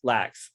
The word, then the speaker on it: Lacks: I was going to say, is it Leach or Lax? Lax, yeah, Lachs. And it's pronounced Lax, yeah.